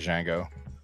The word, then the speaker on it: Django: dang Django Dango Dango I always pronounce it Jango no Ango man no